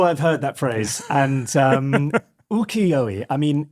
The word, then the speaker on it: ukiyo-e: called, I'm sure you've heard this word before, ukiyo-e. Well pronounced. Thank you very much. It's probably completely wrong. Let me just get that right. Ukiyo-e.